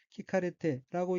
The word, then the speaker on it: 聞かれて: 방침이고 각기 모방, 바늘 침자로 되어 있고 일본어로는 호우싱이라고 읽으며 호우싱은 방침이란 뜻입니다. 넷째 줄 세 번째 어휘는 한자가 들을 문자가 들어있고 일본어로는 키카레테라고 읽으며 키카레테는 듣다는 뜻의 타동사 키쿠의 수동형 키카레루